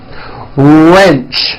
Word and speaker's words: wrench: Detach, teach, porch, march, patch, wrench. Notice the strong R sound at the beginning of that word. Wrench.